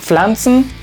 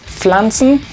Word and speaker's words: Pflanzen: Cuando llegamos a la combinación PF, hay una pequeña como pausa porque se busca pronunciar ambas letras. Entonces esto se leía como Pflanzen, Pflanzen.